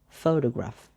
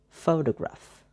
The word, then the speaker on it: photograph: So the photograph has three syllables. There is pho, de, and graph. The first syllable is pho, that is stressed. Then the second syllable is de, is distressed or unstressed. And the third syllable, that is graph, is distressed or unstressed. When the three syllables come together, become like this: photograph, photograph, photograph.